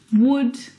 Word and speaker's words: would: Words like salmon, not salmon, half, not half, would talk, walk. All of these words have a silent L in them, which makes them a little bit tricky to pronounce correctly.